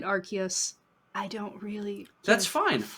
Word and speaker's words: Arceus: and i don't know game freak comes up with all the pokemon and all the pokemon names and aruse is how it's pronounced i don't care i'm calling it arceus i don't really that's